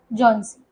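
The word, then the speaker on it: Johnsy: एच यहां पे silent है। जॉनसी।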